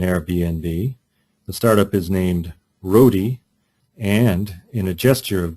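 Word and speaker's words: Roadie: The startup is named Rodi, and in a gesture of great unconventionality, Rodi is spelled the way Rodi is spelled, R-O-A-D-I-E.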